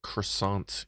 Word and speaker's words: croissant: VertoThermoWhoofle, they make chocolate croissants here. As in full of like melted chocolate, or like the croissants themselves are like chocolate doughy things. Vera. The T is silent. Croissant.